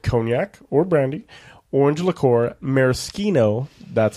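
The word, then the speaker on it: maraschino: So the brandy crusta is typically made of cognac or brandy orange laour maroschino that's how you say it laor lemon juice and angasura bitters.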